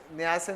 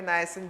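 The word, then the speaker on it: niacin: नियासिन होते हैं, नाइसिन जो पढ़ना पढ़ लेना, प्रोनाउंसिएशन अलग अलग होता।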